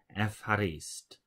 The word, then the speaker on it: ευχαριστώ: But we now know that a Greek would pronounce this Ευχαριστώ, and this means thank you.